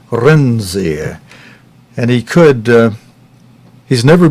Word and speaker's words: Renzi: And friends, as you heard Gavin Hewitt pronounce it, that new Prime Minister, let's see, how did he pronounce that name? He pronounced it Mr. Renzi.